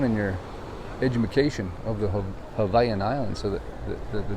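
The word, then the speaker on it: Hawaiʻi: to do it right it's not hawaii hawaii hawaii right it's not how you say it it's hawaii so the w is always a v right it's just little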